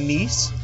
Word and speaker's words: Kneese: I'm your host, Kneese. The K is silent.